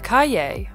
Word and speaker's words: Cahier: is the cay the Caye pronounced like Kanye without the N is the French word for Notebook and it's easy to